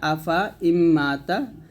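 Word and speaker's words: أفإين مات: লেখার সময় এরকমই আসবে আফা ইম্মাতা তবে লেখার সময় যদিও এখানে আলিফ থাকবে কিন্তু পড়ার সময় সময় এখানে আলিফ দিয়ে পড়া যাবে না তো এই যে নিয়মগুলা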